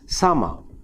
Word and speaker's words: summer: in a word like s-u-m-m-e-r we tend to we may only spend a tend to pronounce the word as summer whereas the correct pronunciation is sama same thing happens in